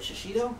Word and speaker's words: shishito: use those and how do you say that shishito shishito i like that i like that this